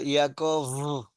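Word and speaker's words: יעקב: Esta bet final sí, se pronuncia Yaakov, así como suave.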